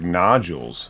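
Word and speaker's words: notules: l e yes the no tools oh I think they the way the audio book was saying it sounded like nodules or n yeah yeah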